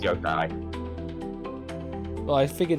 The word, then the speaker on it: yokai: # What even is Yukai? It's pronounced Yo-kai. Well, I figured it's probably Japanese, so it's actually a long O.